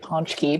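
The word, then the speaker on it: pączki: I say it ponchki because I married a Polish man. Exactly, yes. The Polish pronunciation is the correct one. But I've heard everything from ponchki to pochki.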